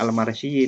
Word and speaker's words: Al-Mursi: Abul Abbas Al-Mursi atau kadang orang membacanya Al-Marsi niku gurunya Syekh Ibnu Athaillah yang ngarang kitab Al-Hikam.